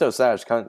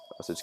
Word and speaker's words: Osage: August Osage County was, ugh, jeez.